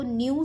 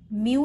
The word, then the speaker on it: nu: Makeup the statistic, इसको न्यू से denote करते हैं. इट कैन be pronounced as NU, न्यू, म्यू नहीं बोलना है, इट इज NU, that is न्यू.